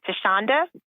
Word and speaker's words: Thasunda: you can also find me on Instagram at tashonda uh again it's not spelled the way it's pronounced that's a 70s baby t h a